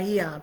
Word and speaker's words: Aeon: But that's what I love about the Eon patches. All right? It's spelled A-E-O-N.